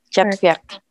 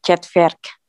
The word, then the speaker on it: четверг: R-nya kerasa. Четверг. Четверг. Bukan Вьерг. Бukan Вьерг, tapi Вьерг. Четверг. Четверг. Четверг. Четверг. Yek. Enggak pakai Y di situ. Chatverk.